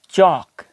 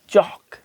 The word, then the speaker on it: chalk: बस यही बात ध्यान में रखें कि एल के बाद जब भी एम, एफ, के ये वाला वर्ड आएंगे तो क्या होगा कि एल की जो वॉइस है वो साइलेंट हो जाएगी, एल को प्रोनाउंस नहीं किया जाएगा।